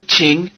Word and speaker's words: 请: 请你请你 Notice the tone change of "qǐng" before "nǐ".